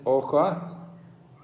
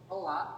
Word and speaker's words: Hoa: Miss Oka? Hoa. H-O-A. S-O-A. Soa. Yes, Hoa. Hoa. Pronounce. Hoa.